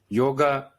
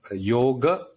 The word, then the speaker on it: yoga: Yeah, because in Sanskrit we have two A's. Yoga. And A. So the yoga, the end is yoga, a small a.